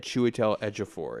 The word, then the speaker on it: Chiwetel Ejiofor: a weird haircut I was close I'll even pronounce it in a sentence I had chiwetel ejiofor it Chiwetel Ejiofor yes so I was close